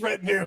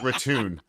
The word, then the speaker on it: retinue: It is retinue. It's not retune.